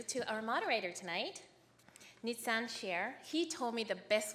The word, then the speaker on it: Shaer: And Shaer as your share on the stock.